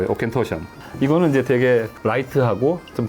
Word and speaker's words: Auchentoshan: Try pronouncing this. Bet you can't. Aken-tu... It's Auchentoshan. Auchentoshan.